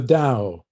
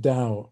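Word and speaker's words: Tao: like like the the dao spelt t-a-o but pronounced dao i'm told or or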